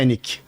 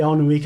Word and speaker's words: Alnwick: É que- A pronúncia em inglês é Ennick. Eu falei Alnwick a vida inteira, cheguei lá e disse Ennick.